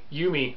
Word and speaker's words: Yumi: you or oh man it's spelled y-u-m-i you me on kickstarter right now